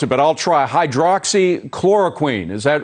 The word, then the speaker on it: hydroxychloroquine: I hope you were going to pronounce it, but I'll try. Hydroxychloroquine, is that right?